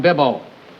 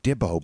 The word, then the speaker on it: Bibbo: It's still sometimes you can think it sounds like Dibbo, but but he's saying like Dibble, but Dibble. the way he's saying it, yeah, his pronunciation. It's Bibbo.